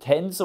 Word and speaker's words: Tangzhong: bekannt im asiatischen raum ich habe mir auch schon sagen lassen es wird tänzer ausgesprochen aber ich bin kein